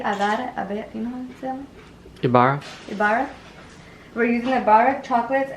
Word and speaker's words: Ibarra: one that's i-b-a-r-a i got it you know ibarra we're using the butter chocolate and then we